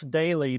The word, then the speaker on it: Doelle: everywhere on social media my name is spelled funny so I'm very easy to find it's Daly but it's spelled D o l l and uh like I